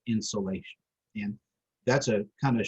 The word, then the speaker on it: insolation: of incoming solar radiation, insolation. It's unfortunate that it sounds like something that you would put in your attic to warm your house, but it's spelled differently. Sol, like solar, like incoming solar radiation.